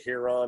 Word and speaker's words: Huron: Is it Huron? Is that the name? Nailed it.